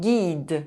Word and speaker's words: guide: Une question A question Quatre Four The letter U is not pronounced when it’s between the letter G and a soft vowel: E, I, or Y. Une bague A ring Un guide A guide 9 –